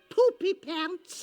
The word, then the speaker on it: Poopy Pants: Poopy Pants. More or less, except the emphasis is on the poop.